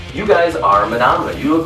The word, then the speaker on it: Manamana: Anytime you meet somebody and they're like, how do you say the name? Manamana, Manamana? No, not mayonnaise. It's Manamana.